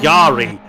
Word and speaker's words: Jari: It's Jari Van Binsbergen. I've been saying Jan all night.